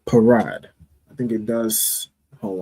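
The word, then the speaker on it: פרד: The pa is pronounced individually, and then the ra and da will be connected. All right, so that will make the word parad.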